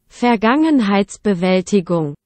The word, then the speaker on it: Vergangenheitsbewältigung: Vergangenheitsbewältigung.